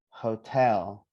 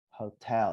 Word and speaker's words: hotel: In hotel, where do we emphasize the stress? Ho or tell? Tell. Tell. Tell. So we say hotel. Hotel, not hotel. I think that's maybe British. I don't know. I'm not sure. But Americans say hotel.